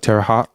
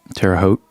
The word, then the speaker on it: Terre Haute: Hot, like Terre Haute. Haute? It's not Haute. It's like hot, right? How do people say Haute in Indiana? Terre Haute? They don't say it the French way.